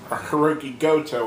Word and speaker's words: Goto: Next up, we have representing Chaos, Yoshi-Hashi, and Hiroki Goto, I'm sorry. Think of like go to the market.